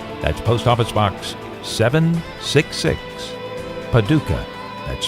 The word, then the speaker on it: Paducah: That's Post Office Box 766, Paducah. That's spelled P-A-D-U-C-A-H, Paducah, Kentucky 42002, USA.